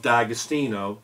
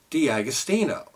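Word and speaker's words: D'Agostino: had it's a a brand new pair of dagostino momentum mons and I just want to let everyone know uh and I was I this is the first I heard this I've always pronounced it Di austino and apparently uh Diamond I was talking with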